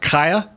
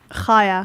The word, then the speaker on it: Chaya: It's spelled Chaya, but it's pronounced Kaya. Chaya.